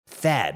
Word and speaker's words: THAAD: THAAD, you know, it rhymes with BAD, and that's exactly what it is for your wallet.